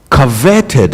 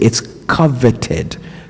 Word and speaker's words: coveted: Coverted is not a word, but for some reason an extra R finds its way into the word coveted when it's being pronounced by some people and it comes out as coverted.